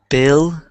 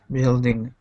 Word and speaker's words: building: Um, billine. Building. Dean. Kind of like B I L L and then Dean.